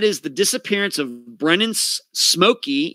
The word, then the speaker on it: Simolke: the disappearance of brennan's smokey even though it's spelled s-i-m-o-l-k-e it is pronounced smokey like s-m-o-k-y brandon smokey he disappeared